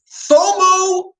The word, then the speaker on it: FOMO: in terms of fiat so fomo rhymes with inflow i'm gonna quote vinnie